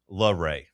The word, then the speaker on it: Laray: Laray.